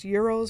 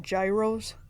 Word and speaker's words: gyros: Karen how to pronounce Euros why do you say it Gyros it's Euro it's Euro it's like Greek or whatever a lot of people